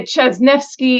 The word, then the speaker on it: Ciesniewski: snki in the US they said chz nefi in Poland According to some Polish uh rugby players that I met at a bar one night but that's how I got taught how to pronounce my name anyway I am a